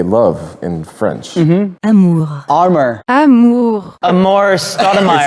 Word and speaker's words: amour: Amour.